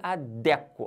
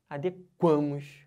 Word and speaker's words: adequo: Mas se eu falar assim, nós nos adequamos, ó, pegando o A na sílaba tônica, aí já pode. Entenderam? Então, o verbo adequar, ele não pode ser falado com sílaba tônica dentro do radical.